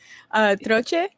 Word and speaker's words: Troche: Troche. Better you say it and pronounce it right than me.